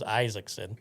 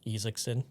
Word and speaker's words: Isaacson: first name, but he goes by Isaacson, which we would pronounce it as Isaacson. We would. Yes, but we're not from Norway, so No. that's why we wouldn't pronounce it Isaacson.